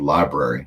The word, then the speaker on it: LBRY: Also one called Library. It's spelled LBRY.TV.